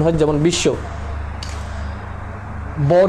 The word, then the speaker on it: বিশ্ব: দেখি প্রথমে বর ক্ষেত্রে দ্বিতীয় উচ্চারণ হয় যেমন বিশ্ব বর উচ্চারণটা হয় না শব্দের অর্থাৎ যে দ্বিতীয় উচ্চারণ